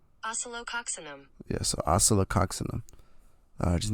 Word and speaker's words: Oscillococcinum: Here's the pronunciation. Oscillococcinum.